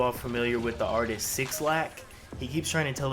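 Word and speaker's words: 6lack: familiar with the artist six lack he keeps trying to tell us that his name is black and the six is pronounced as a b incorrect young man your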